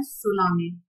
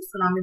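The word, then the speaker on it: tsunami: तो इस लेसन में you will read another natural disaster जिसका नाम है सुनामी। इसमें टी साइलेंट है बच्चे, सुनामी पढ़ते हैं।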